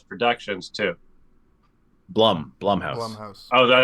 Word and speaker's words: Blumhouse: up to me to decide shout out to bloom House Productions too Blum blumhouse oh is that how you say it my